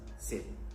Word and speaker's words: สิบ: And the way you say 10 is sip. สิบ Sip. สิบ Oh, just like This นับ one สิบ is pretty สิบ 最後にはプッと書いてありますが、 สิบ いつも通りちゃんとプと言わなくてもいいです。ただ口を閉めて大丈夫です。Sip.